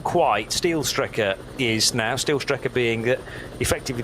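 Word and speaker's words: Steilstrecke: Steelstrecker is now. Steelstrecker being effectively the straight line route through the Caracciolo carousel. So, or Stylestrecker would be the correct pronunciation, where the track used to depart.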